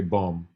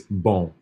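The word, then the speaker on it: bom: when you say this you wouldn't say bum like you can hear the M boom boom it's bone it's almost like a like an in sound but you don't you don't actually pronounce the N it just it's it's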